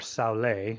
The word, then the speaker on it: Soule: So Olin Soul, I think is how you say his name, or Soule, depending on which way.